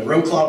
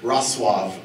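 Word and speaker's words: Wrocław: Yeah, so Roclaw would be an English pronunciation. Roslav would be the Polish pronunciation.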